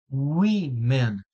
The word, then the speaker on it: women: to pronounce this so one suggestion guys is quite similar to saying yes in French we We Men We Men women it's the Pluto of